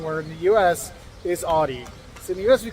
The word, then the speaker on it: Audi: we say wrong where in the US is Audi in the US we call it Audi A lot of times but Audi think like ow I hurt myself Audi that most people I know call it Audi like I always say Audi I never I've